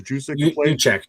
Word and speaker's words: Juszczyk: He reminds you, how do you pronounce guy? Who was Kyle Juszczyk? I think his name was Juszczyk.